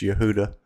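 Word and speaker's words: יהודה: the Fortified cities of Yehuda and captured them that's how it's pronounced in Hebrew it's Yehuda the king of Assyria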